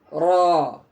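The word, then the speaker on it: راء: Ro. Bukan ra atau bukan ro, bukan ya, tapi ro.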